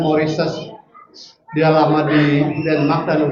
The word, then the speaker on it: Mauritius: Kita menyebutnya Mauritius ya. Padahal bacanya Maurises.